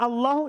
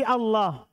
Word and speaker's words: Allah: Karena asalnya adalah Allahu ilahun.